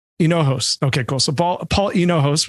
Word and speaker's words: Hinojos: Is it Paul Hingos? Is that how you pronounce it? It's Hinojos. Hinojos.